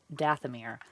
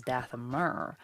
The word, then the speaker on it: Dathomir: ever written, and so I always learned it as Dathomir. So of course when it came up in the Clone Wars as Dathomir, it sounded so foreign, just like Twi'leks.